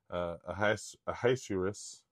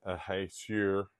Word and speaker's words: Ahasuerus: Well, I'll tell you how to pronounce that one. It's Zerubbabel. Zerubbabel. Zerubbabel. And it's, and this last one is Ahasuerus. It's Ahasuerus.